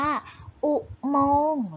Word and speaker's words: อุโมงค์: เรา จะ อ่าน ว่า อุโมงค์ เรา จะ ไม่ ออก เสียง ข้อ ควาย เพราะ เขา ไม่ ตัว